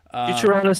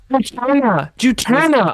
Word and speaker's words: Juturna: Juturna. Oh my God! I thought there was an A before the N.